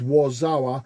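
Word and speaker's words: Warszawa: just always remember that tune called Warzawa and never knew what it meant, and I never understood as a schoolboy, and then I realized it was the Polish pronunciation of Warsaw, and obviously the troubles.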